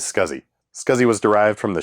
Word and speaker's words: SCSI: early 1980s and yes the proper pronunciation is scuzzy scuzi was derived from